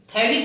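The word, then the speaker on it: phthalic: थैलिक acid का मतलब ये, थैलिक एसिड यहाँ पर PH साइलेंट रहता है।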